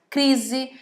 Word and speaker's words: crise: Também passa pelo mesmo caso a palavra casamento, a palavra crise, a palavra pesquisa e a palavra visita, entre milhares de outras.